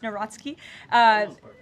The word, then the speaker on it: Nawrocki: He met with Karol Nawrocki, if I'm pronouncing that correctly. Yes, Nawrocki.